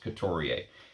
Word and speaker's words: Couturier: Let me learn my pronunciations. Couturier.